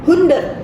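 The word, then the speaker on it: hundert: Inggris bacanya 100 Tapi kalau dalam bahasa Jerman bacanya hunder hund He hunder hunder gitu ya kemudian kira-kira kalau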